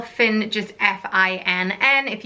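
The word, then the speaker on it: Fionn: on my list is the name Finn spelt a bit weirdly you might think as it has an OH&S spelt fi onn and one of the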